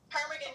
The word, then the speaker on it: ptarmigan: So if you look at how to spell ptarmigan, there's a silent P at the beginning.